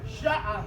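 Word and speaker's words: شعر: Sha'a. Now the word is sha'a, but when you pronounce it, it's going to sound like sha'a.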